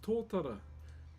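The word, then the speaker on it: totara: This is Tora. T O T A R A is how you spell it.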